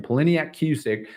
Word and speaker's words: Poliniak Cusick: and then uh Pauline poliniak Cusick excuse me that's how you pronounce her name poliniak Cusick noted her main concern